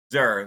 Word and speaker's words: Szur: pronounced your last name is it zour Zur the S of Silent Zur the S of